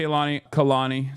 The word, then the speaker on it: Kehlani: But yeah, shouts out to Kehlani. Sorry. That's how you say her name.